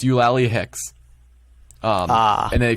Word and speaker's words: Eulalie: It's pronounced Eulalie.